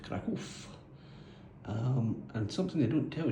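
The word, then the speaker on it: Kraków: So this is the NextDoor Apartments in Krakow, although I'm reliably informed it's pronounced Krakow.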